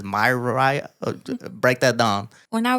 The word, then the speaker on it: Miriah: My dad spelled it with an I without my mom knowing. And so like his story is that it was always supposed to be pronounced myiah.